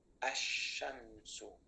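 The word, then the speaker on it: الشمس: Can I pronounce the lam? Yeah. We do not pronounce it, and therefore will be a, sha, ashamsu.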